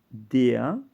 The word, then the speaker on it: der: en alemán aquí tienes DEA es masculino singular definido y se pronuncia aquí como una a de por ejemplo en español corresponde al artículo l el hombre femenino singular